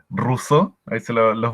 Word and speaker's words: Rousseau: si no la tiene el nombre es extraño el jean jacques rousseau russo escribo ya escribir en